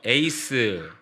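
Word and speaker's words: εἰς: 성령을 위하여 위하여라는 말에 헬라어 단어가요 에이스 영어의 에이스란 발음과 똑같죠 헬라어도 에이스라고 쓰여져 있는데이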